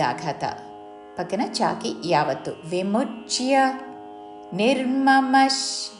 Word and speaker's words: నిర్మమః: పక్కన చాకి యావత్తు విముచ్య నిర్మమష్ నిర్మమష్ విసర్గ ఉచ్చారణ తాళవ్య ష శాంతో తాళవ్య షా దీర్ఘముతో